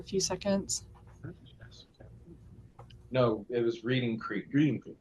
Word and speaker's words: Reading: Yes, we've always called it Reading Creek. I've been here since '72, and it's been Reading Creek. But it's like, read and read. I mean, yeah, they're spelled the same and they're pronounced differently.